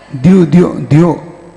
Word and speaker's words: द्यौ: द्यो वहां पे द और या है ना, विद्या है ना, द्यौ, और दीर्घ मात्रा और विसर्ग है, द्यौ के दूरवर्तिनी।